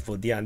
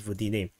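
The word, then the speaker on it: Водяне: or I just realized, this is not pronounced as Vodian, this is pronounced as Vodine.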